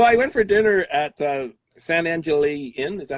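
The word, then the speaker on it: San Angel Inn: So I went for dinner at San Angeli Inn. Is that how you pronounce it?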